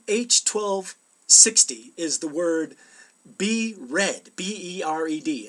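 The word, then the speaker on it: ברד: But Hebrew H1260 is the word bered, B-E-R-E-D. It's actually pronounced bered, and it means hail.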